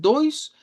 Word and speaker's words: dois: Diptongo o i, que aparece en el dois, igual que en el oitu, una o corta y una i.